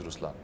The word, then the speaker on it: Ruslaan: So even in Ruslan, when you say Ruslan also means the lion, it's the attitude of a lion, but the right pronunciation is Ruslaan.